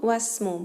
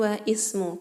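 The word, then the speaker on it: وَاسْمُ: Wasmu, perhatikan di situ wasmu bukan wa ismu. Kenapa? Karena ismun adalah hamzatul wasli. Jadi hamzahnya tidak dibaca.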